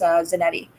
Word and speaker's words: Zanetti: letter which I forgot to mention is Matias Zanetti okay yeah zan ET TI yes and yeah